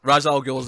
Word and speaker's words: Ra's al Ghul: Falcone properly in this movie I don't say race properly so you know Ra's al Ghul's the correct pronunciation I will fight you on this swings